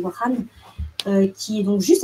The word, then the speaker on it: Wakhan: Donc c'est une population issue du corridor de Wakhan, qui s'écrit Wakhan, mais on dit Wakhan, qui est donc juste à côté de l'Afghanistan.